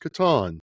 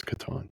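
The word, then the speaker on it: Catan: of Katon on where we learned that it's pronounced Katon. Although you can pronounce it any way you like. Uh but that is how Klaus Toyber pronounced it. So I promised I would do better. It's Katon.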